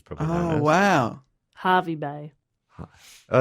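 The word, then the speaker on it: Hervey Bay: Harvey Bay. Oh, is it with an E and it's pronounced Harvey?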